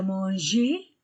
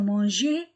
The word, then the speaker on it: manger: La salle à manger, G plus E ou I ou Y se prononce je, avec les autres lettres se prononce G.